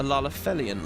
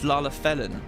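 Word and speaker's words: Lalafellin: But as you asked, my employer, a Lalafelian lad... Oh, it's not Lalafelian, it's Lalafelin.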